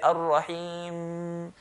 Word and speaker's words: Ar-Rahim: So if you put your nose here, like this, hold your nose, and say Ar-Rahim. You know that sound that comes from the nose? We don't want that. We just want to touch, then let go. Ar-Rahim. And we're not going to do it like Ar-Rahim, Ar-Rahim, which sounds like a ba.